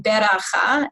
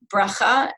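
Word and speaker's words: ברכה: your Reform Hebrew school, which is the use of the shvana, for example, saying beracha instead of bracha, and you probably were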